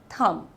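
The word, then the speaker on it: thumb: थंब नहीं थंब। ठीक है? क्योंकि बी साइलेंट होता है इसमें।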